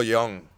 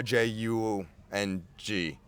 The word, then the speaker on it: Jung: listen to an art audio book by Carl Young Carl Jung it's y j u n g but it's pronounced Jung but that dude was a [